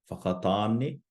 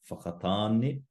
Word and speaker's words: Whakatāne: How would you pronounce the following? So first we have rotorua, rotorua, whakatāne, whakatāne, and taranaki, taranaki.